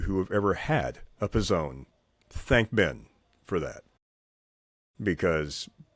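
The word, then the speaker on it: P'Zone: How do you actually say it? The Pizzone. The Pizzone. The Pizzone, yes. P''Zone. Ben Wallace named the Pizzone. For those of you who have ever had a Pizzone, thank Ben for that.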